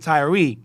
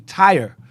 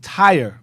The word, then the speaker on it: Tyre: We've been calling it Tyre. That's also erroneous. It's actually Tyre. It's pronounced Tyre, and Sidon is pronounced Sidon.